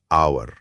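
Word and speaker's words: hour: मिसाल के तौर पर लफ्ज है आवर। एच से शुरू होता है जो वोवेल नहीं है। लेकिन इसकी आवाज ओ जैसी है।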